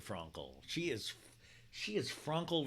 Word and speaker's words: Frankel: yeah I get it I'm saying it wrong on purpose I don't truly think her name is Bethany Franco but it should be right it should be Bethenny Frankel she is she has